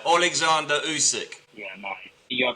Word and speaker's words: Usyk: Well, a lot of people call him Usyk. They put a Usyk. It's not. It's Usyk. It's Usyk. Yeah.